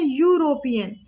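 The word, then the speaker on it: European: इसको पढ़ कैसे रहे हैं, यूरोपियन, इसका प्रोनाउंसिएशन कैसा हो रहा है, यूरोपियन, मतलब कि कंसोनेंट साउंड आ रहा, तो इसके पहले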